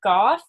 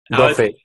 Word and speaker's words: Goffe: Is it Goff or is it? Or tell me how to say it. Here, let me unmute you. Goffe. Goffe? Yeah, Goffe is it. Goffe. It's a Dutch name.